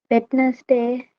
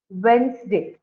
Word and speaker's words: Wednesday: you pronounce this one vitness day yeah it is not W day you change it as Wednesday okay so the D is silent here w okay so so